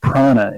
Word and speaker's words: prana: economy works the again I'm saying praana if anyone can't hear me pronounce it right but it's prana or life force pran a that's how the prana